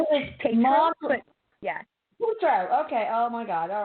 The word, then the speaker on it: Tatro: Tatro. It's who is Tatro, mom. but yeah. Tatro. Okay. Oh my God. All right. Well, try pronouncing my name, everybody.